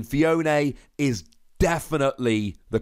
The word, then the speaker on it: Phione: and just so we're clear I've checked the pronunciation phione is definitely the correct pronunciation but I'm sure